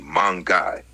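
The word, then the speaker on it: மாங்காய்: In Tamil, the fruit is called mangai, pronounced roughly mangai, which literally refers to the mango fruit.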